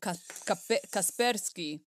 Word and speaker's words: Kaspersky: stupid so i say kaspersky because i like the way that sounds it's russian did you know that i didn't know that so if it's russian it's called kaspersky you're right there we